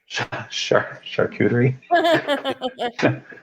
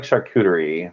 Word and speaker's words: charcuterie: Isn't it like a we're all saying it wrong. It's like it's not like charcuterie, like you're saying cooterie. It's like coo. You have to like do a QTRR, and I can't roll my R's.